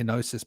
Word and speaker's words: gnosis: it becomes diagosis and there's this G which we pronounce silently when we say nosis but it's actually gnosis